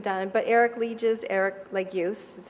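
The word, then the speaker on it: Legius: lot of the neurologic cognitive or behavior of leeches syndrome because they're very very few studies have been done but Eric leeches Erik Lagos is how he pronounced his name we we say Lee jizz in America his it's pronounced like use they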